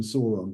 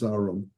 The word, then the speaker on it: Sauron: Sauron, who you never saw, I always call him Sauron, but apparently he's Sauron, according to the pronunciation guide.